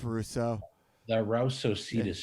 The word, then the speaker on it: Rousso: pronounced Rousso, Right. right? It's Russo.